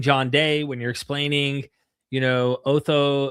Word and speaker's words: Otto: And when you're explaining John Day, when you're explaining, Otho, is it Otho? Is that how you pronounce it? Eckhart Otto? Otto. Mhm. Yeah.